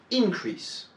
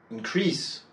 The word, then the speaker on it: increase: Si c'est un nom, un adjectif ou quoi que ce soit d'autre, l'accent va être porté sur la première syllabe.